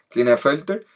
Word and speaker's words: Klinefelter: en el par sexual, y tenemos Klinefelter, lo pronuncié bien, sí, Klinefelter, que es un cromosoma extra en el par sexual en mujeres, pero ya no es XXX, sino que es XXY.